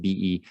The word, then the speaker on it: Beryl: I believe that's how his first name is pronounced, Beryl, who was a Republican.